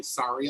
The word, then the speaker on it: sorry: So like, it isn't sorry like a garment. A rap. But that's how you're supposed to learn how to say it. For an American, yeah. I say sorry like a skin wound, like a sore.